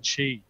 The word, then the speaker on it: Qi: It's called Qi. That's spelled QI.